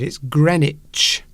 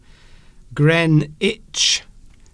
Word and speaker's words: Greenwich: Alessandra asks, how do you pronounce that word? It's Greenwich. Greenwich.